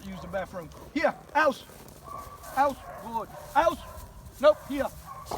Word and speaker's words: Aus: Aus, A-U-S, is for him to turn it loose.